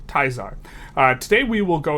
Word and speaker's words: Caesar: uh secret game project Caesar or if you like to pronounce stuff correctly uh because you've taken a class of Latin project kaar or as we like to call it project taar not teaser taar uh today we will